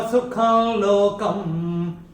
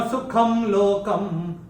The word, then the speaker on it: सुखं लोकम: लेकिन हम लोग जब चैंट करते हैं तब कैसे करते हैं? जब अनुस्वार के बाद अगर ल आता है तो हम अनुस्वार का उच्चारण आधा ल करते हैं। तो मैंने, अगर आपने ध्यान दिया कैसे चैंट किया था? अनित्यम सुखं लोकम और अनित्यम सुखम लोकम, दोनों ठीक है।